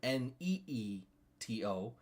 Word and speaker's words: Nito: Everybody's pronounced it was Nito, as in Neeto, and then we had